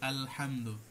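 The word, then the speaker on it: الحمد: আলহামদুলিল্লাহ আমরা পড়ি যে আলহামদু এখানে এই যে আলিফ লামটা এই সেই লামুত তারিফ এখানে ইজহার করে পড়তে হবে তারপরের আয়াত আর রহমানির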